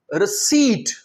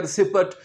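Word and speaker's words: receipt: इसमें हम P pronounce नहीं करेंगे। इसीलिए बहुत से स्टूडेंट्स क्या करते हैं? इसे बोलते हैं रिसीप्ट। ये यहां हम यहां पर हम पी नहीं प्रोनाउंस करेंगे। ध्यान में रखें रिसीप्ट्स नहीं है ये।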